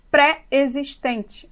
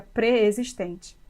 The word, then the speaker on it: preexistente: temos mania de falarmos preexistente mas a palavra se escreve junto e a pronúncia seria pré-existentes Beleza você não fala